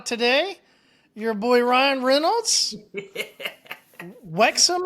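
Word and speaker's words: Wrexham: your boy Ryan Reynolds Wexom I think is how they pronounce it signed uh uh oh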